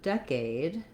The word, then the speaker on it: decade: with a clear vowel so decade i do want to have the dec syllable long and the aid syllable shorter decade but i have the stress but i still have a clear vowel a in aid um you thought we